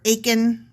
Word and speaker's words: Achan: Achan or Achan rhymes with bacon. Yeah. Yeah. Bacon. It'd be like the 7, whatever, the bacon thing. Only we'll say Achan.